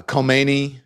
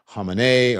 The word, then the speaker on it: Khamenei: uh Khomeini that was back in the day that's how they pronounce it but then as time went on we know it's Khamenei or Khamenei but some people say the Ayatollah Khomeini right? That was the American way of saying it but that was you